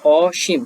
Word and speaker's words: অসীম: অসীম, অসীম, এটি হচ্ছে অসীম, তালবস্যার সীম, দন্তস্বরের মতো উচ্চারণ অনেকটা হয় না, সীম তালব বসার মতো হয়।